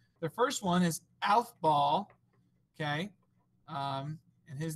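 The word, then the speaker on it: Aufbau: last two scientist names the first one is alph ball okay um and his name is spelled a-u-f-b-a-u so his principle was that you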